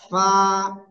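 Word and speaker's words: ف: দিকে দেখেন এদিকে দেখেন নিচের ঠোঁটের পেট উপরের দুই দাঁতের আগায় লাগাবো লাগিয়ে হালকা বাতাস বের করব বের করে এক আলিফ টেনে উচ্চারণ করব এই যে ফা ফা ফা হা একসাথে সবাই জোরে জোরে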